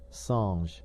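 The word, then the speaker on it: singe: a piece of bark, he learned from Darnau that it was pronounced um and in the same way he was taught to pronounce ape son and tree ar.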